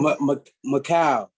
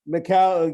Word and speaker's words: Mikal: have to ask uh yeah coach campbell to pronunciation your first name i forgot to ask him macau macau yeah uh michael five letters five letters was